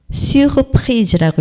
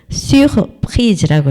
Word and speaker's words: surprise: 프랑스어 말로 surprise라고 읽어요. 서프라이즈죠. 그러니까. 그런데 프랑스어에서는 이것을 surprise라고 그래요.